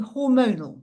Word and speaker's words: Hormonall: And today, I'm very proud to announce that we're launching Hormonall, which is spelt hormonal with an extra L on the end, double L.